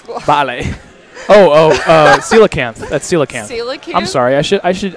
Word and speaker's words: coelacanth: Alex ale well it's like Bali Oh Oh coelacanth that's coelacanth I'm sorry I should I should I should respect his new tag it's coelacanth for God's sake it's just an it's just